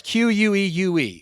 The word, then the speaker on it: queue: Well, the Q, you didn't spell it right. It's Queue is what it is. Q-U-E.